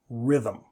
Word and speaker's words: rhythm: Rhythm.